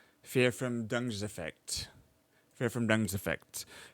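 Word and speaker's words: Verfremdungseffekt: is pronounced as fear from dung effect. fear from dung's effect.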